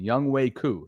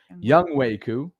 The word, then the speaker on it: Younghoe Koo: He didn't even, for those of you, by the way, and somebody's helping us out with the pronunciation, Younghoe Koo. Thank you. Younghoe Koo.